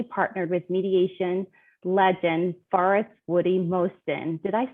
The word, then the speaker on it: Mosten: She's also recently partnered with mediation legend Forrest Mosten. Did I say his name right? Mosten, yes.